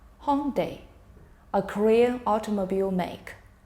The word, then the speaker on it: Hyundai: Hyundai, a Korean automobile make. Hyundai, we usually call it.